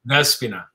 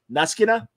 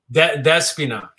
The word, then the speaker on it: Despina: Despina. Neskina? Despina.